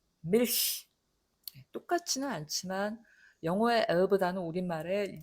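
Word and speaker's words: Milch: 그냥 펴고 정확하게 우리말의 리을 발음처럼 하시면 됩니다. 밀히, 밀히.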